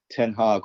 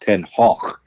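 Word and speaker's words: ten Hag: but anyway to go back to uh um ten hog or or actually his name in in Dutch is pronounced ten HW but um but no commentator no commentator is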